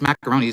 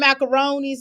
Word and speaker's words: macaroni: It's macaroni. There's no S, baby. We We know there's no S on the end, but we just say it like that.